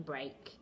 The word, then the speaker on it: break: e a in break okay and then one that rhymes with break steak okay steak um you